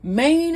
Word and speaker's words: Maine: Okay, and then also one cool fact is Maine is the only state with 1 syllable.